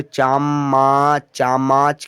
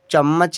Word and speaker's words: चम्मच: इसे आप पढ़ोगे चामा, चामाच। क्या उच्चारण सही है? गलत है, सही उच्चारण चम्मच है।